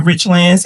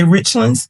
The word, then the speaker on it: Richlands: That's why when people come to rich lands and they try to say richlands, I says, no, it is rich lands. I want to make sure you pronounce it right.